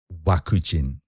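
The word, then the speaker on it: ワクチン: idea you stumped me it's actually waku-ching so it's so they've taken the english and made it unnecessarily unrecognizable yes yes yes it's it's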